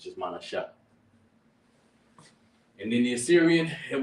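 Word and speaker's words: מנשה: Manasseh in the Hebrew is pronounced Ma, Na, Salakia. Yeah, it's Manasha.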